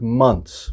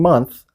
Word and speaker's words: months: this one the word months we don't pronounce the th if we're just saying months we pronounce it well